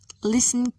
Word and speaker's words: listen: thailand thames thomas note the letter t is silent in a few words listen and say these words listen castle not t is the